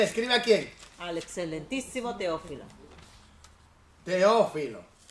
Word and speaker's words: Teófilo: Porque en el griego La T. lo que nosotros usamos como T, por ejemplo, Teo, en realidad, porque se escribe con TH, ¿eh? Pero cuando tú vas al griego, mira, feo, una Z. Entonces en realidad debería ser Sí. Feófilo. La Z en griego, sí.